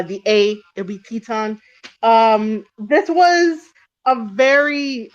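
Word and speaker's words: Titán: Teton by the way I don't know why uh we call it we call him Teton it's spelled Titan but because he's Mexican and he's representing cmll and also rep and also representing lij um we say uh Teton just please put the accent over uh the a it would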